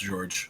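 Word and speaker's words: Georges: It is French. It's just George. It's just George. It's just pronounced George.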